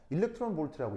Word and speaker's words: 일렉트론 볼트: 압니까이 이의 뜻이 뭐예요 자 읽을 때는 어떻게 읽어요 어 일렉트론 볼트라고 읽거든요 자 의미는 뭐냐면 전자